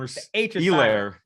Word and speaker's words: Helaire: Total rushing and Elaire. The H is silent.